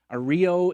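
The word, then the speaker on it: Aereo: this AR ARO ARO AEO is is how they spell it Ario I believe is how it's pronounced and they've won a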